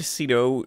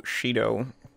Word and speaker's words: Shido: story a boy named cido Shido I guess it's pronounced with an sh even though it doesn't have it in the title or in his name whatever is meet the